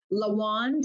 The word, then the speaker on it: Lawand: spelling of my name lawand rhymes with the wand and if you think